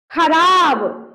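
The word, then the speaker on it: ख़राब: खराब।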